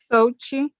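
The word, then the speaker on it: Xochitl: Sochi. Ochi? Sochi. Sochi. So the X is like S, right? Yes. And the L is silent.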